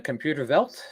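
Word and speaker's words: Computerwelt: World copy with this so how do you pronounce that in German a computer velt is that it computer about exactly yes okay and again luckily place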